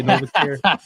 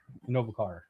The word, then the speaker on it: Innovacar: I did say noare. I did say noare if I'm Yeah, everybody say it wrong. In Novakar. Novakar.